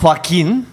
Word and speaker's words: Joaquin: 去倒落抓？It's pronounced Joaquin. Joaquin, Spanish male name.